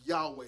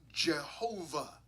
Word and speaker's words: Yahweh: of God it's God's name Yahweh we would pronounce that Yahweh sometimes you're going to hear pronounce yve uh you might hear the name Jehovah okay okay that's with you know putting the